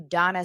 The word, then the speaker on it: Dana: But I find myself, because I used to always say, well, it's Israeli, you know? Why are you Donna spelled Dana? Oh, it's Israeli. It's the Israeli pronunciation.